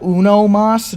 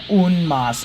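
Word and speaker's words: uno más: Peru tell me that unomas doesn't sound right so it might be a bit of a culture difference but I did have a native Spanish speaker tell me that unmas is the correct way to say it you know like like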